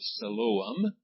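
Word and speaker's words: Siloam: in the pool of Salam see it has three syllables there your pronunciation God marks them off three syllables the first I is the the I I mean is a long sound the O is a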